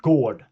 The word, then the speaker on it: gård: Example, if I say gård, that means garden or yard. So G-O-R-D, G-O-R-D, gård.